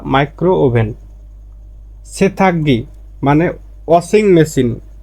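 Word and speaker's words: 세탁기: সেথাগ্গি মানে washing machine, সেথাক্কি আর উচ্চারণটা হবে সেথাক্কি মানে ওয়াশিং মেশিনে গিয়কের পরে গিয়ক আসলে আর উচ্চারণটা হবে ক, সেথাক্কি ওয়াশিং মেশিন।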